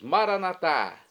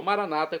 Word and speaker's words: Maranatá: E agora eu clamo do aramaico, dialeto de Jesus, Maranatá, como dizemos nós católicos, ou Maranata, como dizem nossos irmãos separados, os evangélicos ou protestantes. Não importa a pronúncia, o significado é o mesmo.